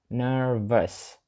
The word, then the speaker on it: nervous: але вона дуже добра nervous читається дуже цікаво та в кінці там є літера та U разом і читається це nervous nervous тобто в кінці в щось схоже до нашої е але воно дуже коротке майже невідчутне V nervous My grandmother also